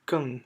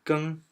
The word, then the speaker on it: 更: more, and pronunciation is 更 for the fourth one, right? 更. But actually, for this character, when you pronounce as first one 更, it means to change.